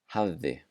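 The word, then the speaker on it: hafði: apply, it will sound like the letter V. So in these words, avi, avi, which means grandpa. Havði, havði, which means had.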